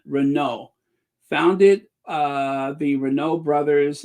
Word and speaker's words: Renault: after Decades of making other goods and renown Renault the tea is silent Renault founded uh the Renault Brothers in 1899 their